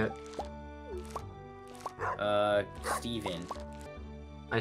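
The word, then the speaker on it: Steaven: you find out oh I spelled Stephen uh s-t-e-a-v-e-n the a silent there she is dude Stephen walking just sounded like Squidward walking um exactly like that Steven just ran into a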